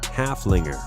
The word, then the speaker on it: Haflinger: Haflinger. With a name that rhymes with gunslinger, Haflingers are just as awesome as they are therapeutic.